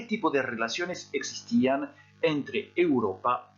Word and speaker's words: Europa: Vous faites attention ici à la prononciation, on dit bien Europa, et vous remarquez que devant les noms géographiques, en général, il n'y a pas d'article.